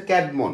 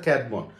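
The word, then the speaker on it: Caedmon: ইংরেজি সাহিত্যের আদিকবি হচ্ছে ক্যাটমন উচ্চারণ কি ক্যাট মন ক জ ফল আকার ড মনোমন ঠিক আছে ক্যাডমন এই ক্যাডমন কে বলা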